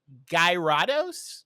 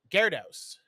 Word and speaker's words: Gyarados: I I'm sure I'm pronouncing this wrong, but it's Guyados. Guyados. No, that was perfectly perfectly fine. Oh, um actually it's the evolved Gyarados.